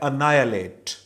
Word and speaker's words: annihilate: ठीक है, एनी ही लेट पहली नजर में देखें तो इसका प्रोनाउंसिएशन ये बनती है, लेकिन जब आप सुनोगे इसे, जैसे मैं भी अब आपको बता रहा हूं कि ये वर्ड है अनायलेट।